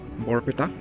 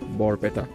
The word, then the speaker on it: Barpeta: This is once more, and today I'm heading to Borpeta. Yes, that is how it's pronounced. It's Borpeta.